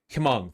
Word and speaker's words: Hmong: Don't pronounce the H, just Hmong?